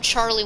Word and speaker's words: Chatty: His name was actually mispronounced, was misunderstood, and so they called him Charlie Windjack. If you want, you can say Charlie, but his real name was Chatty.